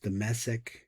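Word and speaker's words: דמשק: Damshek of Damascus in 1605. It's pronounced Damasek.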